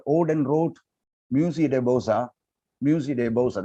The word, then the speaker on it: Musée des Beaux-Arts: Musée de Beaux-Arts, that is the correct way in which that poem will be pronounced, Musée de Beaux-Arts, but written as Musée des Beaux-Arts, right?